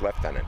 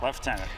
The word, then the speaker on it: lieutenant: referred for some reason the pronunciation is leftenant leftenant even though it's spelled lieutenants I have no idea